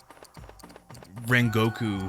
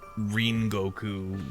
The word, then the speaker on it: Rengoku: Don't call him Rengoku. His name is Ringoku.